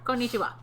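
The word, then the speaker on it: konnichiwa: it's all the same every syllable has the same emphasis no getting excited about no bit excited need you why not right let's go okay konichiwa uh and this is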